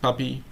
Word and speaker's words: PPEE: We've got PPEE, pronounced puppy, and PE Insider.